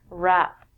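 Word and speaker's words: wrap: it overpowers it we don't say the w and we say this word rap there are two meanings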